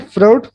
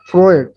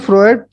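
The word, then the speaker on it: Freud: Options है Erik Erikson, Robert हैविगर्स्ट, Sigmund फ्रॉड, फ्रॉड sorry फ्रॉयड, फ्रॉड नहीं, Sigmund फ्रॉयड और Edward Thorndike.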